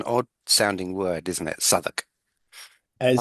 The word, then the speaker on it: Southwark: on the story, as well as the correct pronunciation of the title. So this is Sherlock Holmes, the Southwark.